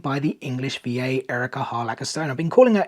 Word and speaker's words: Harlacher: I literally watched an interview with her a couple of days ago, and she announced herself as Erica Harlacher, so I do apologize for saying her name wrong for such a long time.